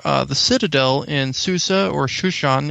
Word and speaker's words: Shushan: We mentioned that the word for the citadel in Susa, or Shushan, is actually how it's pronounced in Hebrew.